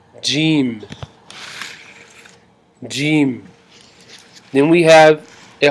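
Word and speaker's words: ج: it after me alice like in gem it is gene gm then we have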